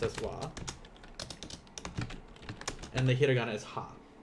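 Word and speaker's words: は: then we have our topic marker which is wah even though it's pronounced as wah and the hiragana is hot here we'll put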